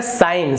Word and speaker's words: sign: का उच्चारण होता है, लेकिन यहाँ पर आप साइन में देखिए यहाँ पर ग का उच्चारण नहीं हो रहा है, तो यहाँ पर जी है, साइलेंट है।